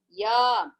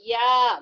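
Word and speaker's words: य: Ya is same like Chavarga. It is a Talavyaha. That is, Talavyaha means lower palate. With the lower jaw, this ya. When you pronounce ya, please pronounce and see all of you. Ya. Is the lower jaw elongating? Are you able to pronounce? Please someone pronounce and tell me whether it is done in that way.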